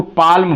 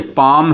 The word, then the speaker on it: palm: ये PALM, इसको पाल्म बोलने, पाल्म नहीं, ये पाम है। एल साइलेंट हो गया हमारा, एल साइलेंट हो गया।